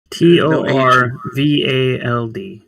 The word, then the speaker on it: Torvald: T O R V A L D. Torvald. No H.